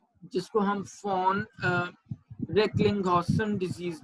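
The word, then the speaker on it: von: अच्छा जी, सबसे पहला जो सिंड्रोम है that is fawn हिपल लिंडाउ disease. Fawn हिपल लिंडाउ disease, इसको हम VHL भी कहते हैं। वॉन वैसे V से है बट जनरली हम इसको फॉन प्रोनाउंस करते हैं।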